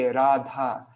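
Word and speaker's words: Rādhā: yeah, if you're speaking, if you want to speak in with proper Sanskrit pronunciation, then you would say Radha, you know, you wouldn't go Radha, you know, like it's, you do elongate the vowels, I guess.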